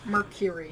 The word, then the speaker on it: Merkury: today we are going over black label from Mercury from Mercury they say to a no yes it is spelled different actually yeah a little little weird